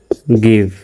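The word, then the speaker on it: give: জিআইভি উচ্চারণ হবে, জির পরে আই থাকার পরেও জির উচ্চারণ গর মতো হয়েছে, ব্যতিক্রম। জিআইভি গিভ, এই গিভ মানে হলো দেওয়া, আর এই গিফট মানে হলো উপহার।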